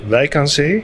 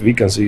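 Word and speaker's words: Wijk aan Zee: We pronounce it though in Dutch Wijnanzi, but Wijnanzi is also fine.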